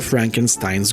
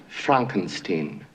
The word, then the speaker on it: Frankenstein: follows the original Dr Frankenstein's grandson my name it's pronounced Frankenstein well excuse me Frankenstein I'm sorry one of